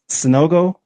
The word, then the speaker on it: Sanogo: Sanogo, You said it right.